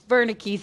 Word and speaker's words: Wernicke's: happened to be our wernicke's area and it's actually pronounced with a v so nice job guys